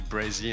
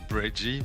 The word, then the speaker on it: Brezzy: It's just like say Brezzy and not Breggy, but like, I mean, you can say whatever.